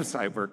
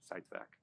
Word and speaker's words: Zeitwerk: We have SiteVerk now, or SiteVec now, if you're at that conference where they had the proper pronunciation, SiteVec.